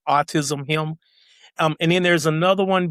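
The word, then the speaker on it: AutisHIM: It's AUTIS and then capital HIM, like autism him.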